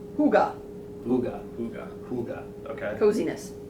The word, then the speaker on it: Hygge: It's pronounced Huga.